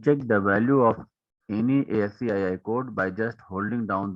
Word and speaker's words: ASCII: is your aci code the aci code is pronounced as ascii and is used for